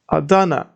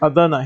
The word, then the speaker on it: Adana: checked the last letter is L this part Adana so here we see aa and da but